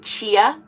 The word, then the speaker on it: Chia: You pronounce it Chia, like a chia seed.